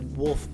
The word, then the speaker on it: WLF: So she ends up running into a wolf base. Wolf, which is spelled WLF, is the main enemy group in this game.